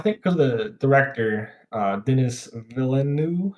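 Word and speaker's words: Denis Villeneuve: because the director uh Dennis villanu is that how you say it it's a I had to look it up several times I believe it is Denny vuv one of my favorite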